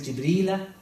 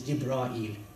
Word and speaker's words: Jibreel: Quran is like this, Jibreel, and then in the Hadith and in the commentary is Jibreel. Okay, so they all mean the same thing, but there are 10 different variations, pronunciations that happen.